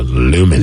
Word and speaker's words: Lumen: Someone says you can say it like Seinfeld said, Newman. So Lumen. Lumen.